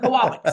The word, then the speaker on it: Kowal: it right yes okay koal say it's koala koala bear koal and you've been you